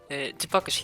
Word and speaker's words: GPAKOS: Hello Hello, guys, Chipakos here. Yes, that's how it's pronounced.